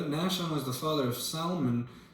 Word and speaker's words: Salmon: was the father of Salon Salon it's spelled exactly how you would read salmon the father of Boaz